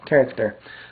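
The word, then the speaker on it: χαρακτήρ: Uh C H A R A K T E R character.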